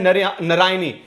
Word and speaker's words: नारायणी: में क्या बोलते हैं नारायनी बोलते हैं नारायनी स्पेलिंग ठीक कर लेना जिसके पास पीडीएफ है नारायणी एन ए आर वाई ए एन आई नारायणी